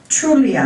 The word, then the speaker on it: Trulia: came across a website trulia i believe it's pronounced trul I a dot-com it's I believe